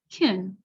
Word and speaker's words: can: happens with can so when can is is not emphasized it's not stressed in the sentence we'll actually pronounce it like kin so listen to the